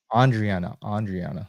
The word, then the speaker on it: Andriana: Andriana.